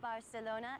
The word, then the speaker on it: Barcelona: our beautiful Spanish ports the actual correct pronunciation of Barcelona is Barcelona like the Spaniards say Barcelona is Spain's second